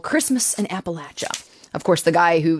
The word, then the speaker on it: Appalachia: called Christmas and Appalachia P.S the the correct pronunciation is Appalachia a Appalachia how do how do we know